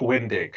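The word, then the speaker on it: Wendig: you wrote about the firing of I can't pronounce this guy's last name can you help me out yes it's a Chuck win dick he was the writer for he was a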